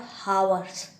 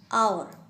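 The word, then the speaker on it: hour: And nouns that begin with silent H, spelling में एच होता है बट साइलेंट होता है, मीन्स हम उसको पढ़ते नहीं हैं, like H ओ यू आर, नॉट हावर्स, आवर, are, okay.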